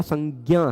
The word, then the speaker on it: संज्ञा: संज्ञा प्रबल देते हैं बहुत सारे लोग संज प्रबल देते हैं ठीक है पर परंपरा प्राप्त उच्चारण हम सबका संज्ञा है हम लोग वही करते